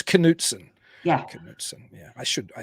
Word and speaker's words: Knudsen: so I get the oh you pronounced the K I try to do somewhat I try to do it in between it's cansen Yeahs yeah I should